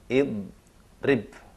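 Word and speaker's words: اِضْرِبْ: Supaya mudah dibaca, dikasih huruf penolong berupa alif di depan, maka dibacanya idrib. Karena huruf tengahnya kasrah atau i.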